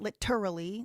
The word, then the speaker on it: literally: But uh we say literally with the flap, not literally, literally. That the flap It's called flap when you reduce the sound to a d sound.